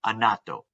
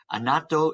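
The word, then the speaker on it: annatto: want to look for them the last one anato anato is what the picture I show you and it is spelled a-n-n-a-t-t-o if you want to know where you can find a natto if you go to Whole Foods or Trader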